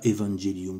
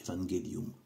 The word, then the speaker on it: evangelium: Moi je le prononce avec le latin classique, je préfère. Je dis pas evangelium, je dis evangelium. Ou tout ça, c'est-à-dire que voilà, c'est une prononciation classique.